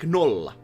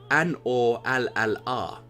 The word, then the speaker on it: nolla: Like those are always, if you look at the individual alphabets, they are always pronounced in a same way if you just put those alphabets very roughly together, and that's actually a very easy way to learn how to speak individual 100.